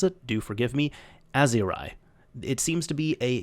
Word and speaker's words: Aiseirigh: Aiseirigh, although they say it is pronounced Aiseirigh, so I guess either of them could be interchangeable.